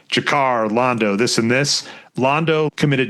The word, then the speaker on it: Londo: Pronounced Londo.